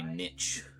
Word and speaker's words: niche: know, found my my niche. I don't like to pronounce it like I I prefer to pronounce it niche. Slightly more posh.